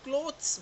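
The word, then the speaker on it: clothes: जबकि CLOTH, इसको हम बोलते हैं क्लॉथ, KLAWTH, के क्लॉथ। अगर पीछे ES लग जाएगा यानी उसका प्लूरल हो जाएगा, तो वो बन जाएगा क्लॉथ्स, KLOWTHS। जब हम क्लॉथ बोल रहे हैं तब हम LAW कर रहे हैं, जब हम क्लॉथ्स बोल रहे हैं तब हम LOW बोल रहे हैं, राइट।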